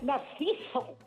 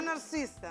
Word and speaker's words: Narcisa: A receta é Narciso. Está ben. Sí. 50 euros. 50 euros. 50 euros. Sí. Mira, Maruja. Dime. Fíxete na pronuncia exacta, Begoña. Bacallau Verdad que sí. a Narcisa.